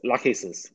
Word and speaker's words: Lachesis: With the, you said it's pronounced, and I'm hoping I'm saying it right, Lachesis. Did I say that right? Yeah, that's right. It's Lachesis.